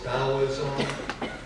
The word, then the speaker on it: Taoism: As you pronounce it, the T's is D, so it's Taoism.